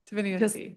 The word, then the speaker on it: Deinia: Dinia like the ocean.